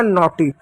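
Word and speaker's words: naughty: एन को क्या लिखेंगे? नौ लिखेंगे, एन खत्म हो गया। ए यू को क्या लिखेंगे? ओ की मात्रा लिखेंगे, ए यू भी खत्म हो गया। जी एच साइलेंट रहेगा, टी को टॉ लिखेंगे, वाई को बड़ी की मात्रा, हो गया नॉटी।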